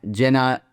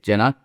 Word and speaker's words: Dzenan: It's like a J. It's a DZ but it's like a J.